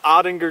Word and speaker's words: Oettinger: tail piece that's called an odd injure tail piece Oh e TT ing ER that's how I'm gonna pronounce it anyhow so pretty neat we're